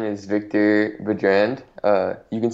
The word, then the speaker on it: Baudrand: a little something new, you can say Baudrand. It's the French because I'm French Canadian, and my last name is French, and so it's typically pronounced in the French way. But Baudrand or Baudrand both works.